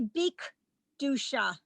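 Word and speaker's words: בקדושה: It's better to say bik dusha, because the 2 dots are at the beginning. Close the syllable. Bik Dusha. If you didn't have the B in front of it, it would be Kiddusha.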